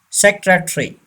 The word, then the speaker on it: secretary: Secretary. Yes, secretary. We don't pronounce this A. It should be silent.